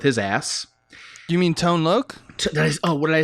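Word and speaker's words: Tone Lōc: on the gag and those two characters are tony lock who plays emilio the detective who ace ventura interrogates with his ass do you mean tone look oh what did i say tony no tone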